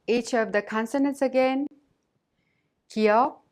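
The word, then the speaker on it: 기역: Kiok is not a strong K sound or a voiced G sound, but pronounced in a soft K sound in an initial letter.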